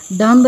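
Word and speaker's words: dumb: next इस डूम डूम बोलेंगे हम विद स्ट्रांग दाम नहीं आई सेड दम अगेन देखिए यहां पर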